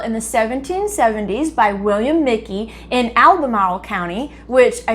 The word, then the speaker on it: Michie: up the pronunciation and it's not mitchy tavern even though it is phonetically spelled that way it's actually pronounced mickey tavern so we'll start calling